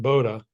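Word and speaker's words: Bodø: itself so so when did you get to Bobo bowo or Boda Bodo b o do O It's pronounced Boda was that your final destination it was not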